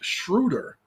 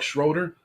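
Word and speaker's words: Schröder: Kyrie Irving and Dennis Schroeder. I know it looks like Schroeder, but he's not from this country, so he pronounces it Schroeder.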